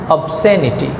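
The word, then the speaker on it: obscenity: এখানে দেখো এই যে এস আর সি যদি একসাথে থাকে তাহলে এখানে সি এর উচ্চারণটা এস এর মধ্যে চলে যায় তার মানে এখানে আলাদা উচ্চারণ হয় না অবসেনিটি অ্যানাথেমিয়া তাহলে এটা হচ্ছে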